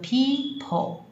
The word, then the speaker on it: people: 多人怎么办，叫做 people，这里有 people，那 people 很特